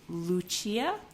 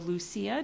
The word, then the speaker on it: Lucia: This is pumice in Dirty Water Dye Works Lucia. Or Lucia, depending on if you want to say it the Italian or English way.